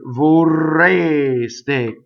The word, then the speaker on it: vorreste: So this R rolls, obviously, because it's doubles.